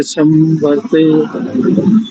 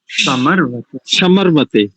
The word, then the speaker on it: समर्वते: सनः पवस्व शंगवे जनाय संवर्ते संराजनोषधीभ्यः। ठीक है। संव्रते नहीं करेंगे, संव्रते नहीं, समर्वते और समर्वते।